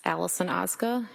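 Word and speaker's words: Allison Ozga: Tell us your name, please, and spell it. It's Allison Oza.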